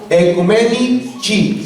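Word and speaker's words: Oecumenici: Pero el texto es Inter Ecumenici, se lee en A, la letra O y E en latín se lee como E. Ecumenici, C-I en latín se pronuncia como chi.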